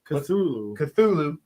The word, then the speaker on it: Cthulhu: I mean, I've heard other people do the hard T where they say Cthulhu instead.